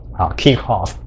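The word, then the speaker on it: Kirchhoff: maybe kirchoff but actually kirkhof is a is a german so if you want to pronounce it in a more german style you should pronounce it as kirkhof kikhoff and in my mother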